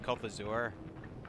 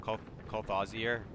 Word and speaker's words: Kolthazur: I pronounce the name Kolthazur. It's just how I pronounce it. Some people call it Cult Aussier, which is kind of a weird way I've heard people be like.